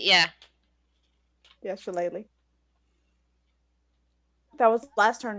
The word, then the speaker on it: Shillelagh: I'm not that cantrip they all were all razzing me for mispronouncing horribly. Shillelagh, yeah. Yeah, Shillelagh.